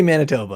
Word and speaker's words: Manitoba: And just say Manitoba, all right? It doesn't need to have an accent. No, say it just like that. Winnipeg, Manitoba. That's exactly how you say it.